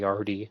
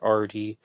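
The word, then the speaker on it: Ardie: Arty come from Bernard it's spelled a r d i e kind of like the end at of Bernard huh yeah definitely okay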